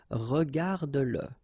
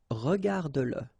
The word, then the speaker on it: regarde-le: Remember that if you've got, in some situations, the pronoun le, and if it comes after your verb, like in that case, then you will have to pronounce it. Okay, so regarde-le, regarde-le, all right, regarde-le.